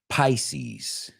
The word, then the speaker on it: Pisces: Pisces. Say it with, guys, I know how to say it. Pisces. It's like pie, como American pie.